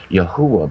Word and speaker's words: Yahuwah: Yahuwah, by the way, is the correct pronunciation for the Tetragrammaton.